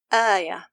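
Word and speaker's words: آية: But we changed the second hamza to an elongation letter, so the word becomes ayah, because the alif is suitable for the fatha.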